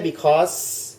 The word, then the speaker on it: because: ใช่ Because ไม่ ใช่ Because Because Because จะ เป็น เสียง Z สั้น ๆ ข้าง หลัง นะ ครับ or theirs theirs